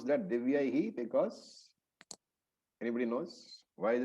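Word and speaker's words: दिव्यैः: So, why do you pronounce that Divyaihi? Because anybody knows why is it pronounced Divyaihi and not Divyai? So, a few pointers here. The first matra is ye, the second matra makes it yai.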